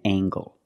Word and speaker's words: angle: Or jungle, tangle, and angle. These are pronounced with the hard G sound.